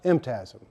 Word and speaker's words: MTASM: technology and applied sciences management MTM pronounced MTM but why a new